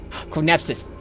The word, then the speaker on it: Chronepsis: Chronepsis. Thank you. That's how it's pronounced. Thank you. So, which one? Well, yeah. Chronepsis is a Just think Chronos.